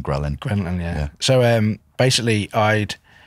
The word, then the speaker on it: ghrelin: adhd dyslexia i think i think it's grellan i always think growling ghrelin yeah so um basically